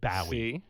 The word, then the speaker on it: Bowie: i said listen i i said maybe you don't care but the guy's name is david bowe he goes no in england they say david bowie and i went this